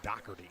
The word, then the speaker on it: Doherty: That's the way it looks, but it's pronounced Doherty.